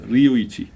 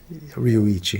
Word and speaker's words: Ryuichi: itchy but you know in Japanese there's no difference between L and R so it's almost Luigi but Sakamoto is easy